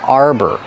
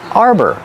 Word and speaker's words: arbor: n this is an arbor Arbor pronunciation use the r like car and bar and the second syllable is er like Burger together Arbor this is